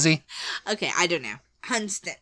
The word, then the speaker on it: Hunstanton: yes all right hunon when in doubt just leave off an entire part of the word and you know if all else fails yes if all else fails just just completely don't even act like the end of the word is there and H hunston okay